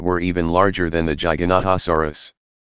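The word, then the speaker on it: Giganotosaurus: Gigantosaurus, pronounced Jai Ga No To Sor Us, was slightly longer at nearly 42 feet, 12.6 meters, long.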